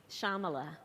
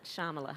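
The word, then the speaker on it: Shyamala: name of your mother shamala so the Y is silent shamala shamala yeah what was shamala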